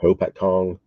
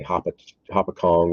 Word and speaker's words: Hopatcong: I can't pronounce uh Hopatcong I always want to say hop a Kong it's okay uh Lake